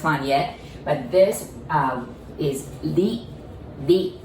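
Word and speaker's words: り: yet, but this is li, li. I know it's written R-I, but remember we don't pronounce R, right? So we pronounce it like L.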